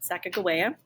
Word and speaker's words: Sacagawea: Every kid in America knows the incorrect pronunciation of her name, Sacagawea. That's how she would have said her name, Sacagawea.